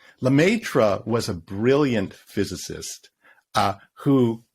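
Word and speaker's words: Lemaître: There was a guy, and I can't pronounce his name. What's his name? Lemaitre? Lemaitre.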